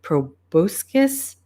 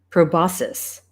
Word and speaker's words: proboscis: I'm not sure if I'm saying this right proboscis sorry I'm actually going to take my time